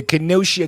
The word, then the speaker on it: Kenosha: The Kenosha Kid.